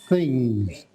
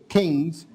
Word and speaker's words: things: things yeah oh there's there's millions of people in the world that say kings instead of things and then one more